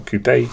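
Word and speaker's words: coupé: Got a recolor in the Audi number 2 of 100 Audi TTRS coupe, or coupe if you want to say it properly.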